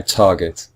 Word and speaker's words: target: it's the first syllable if you listen carefully it's the first syllable which is just slightly stronger than the second syllable we say I target we don't say targets